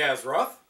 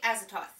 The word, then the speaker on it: Azathoth: this one will be AZ Roth or if you want to pronounce it correctly azoth I don't dare speak